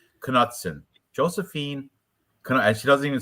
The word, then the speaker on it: Knutson: Knutson? Or is that K silent? No, I think you pronounced the K. Somebody said that they heard the commentators. But you know what? I heard this though. I swear I heard that you pronounced it. Yeah, I'm gonna pronounce it. I've heard it pronounced. That's why I'm saying the K too.